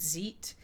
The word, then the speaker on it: Zeit: site or is it Zeit Amy says when I and II go walking the last one does the talking so ze I T so it should be site because I comes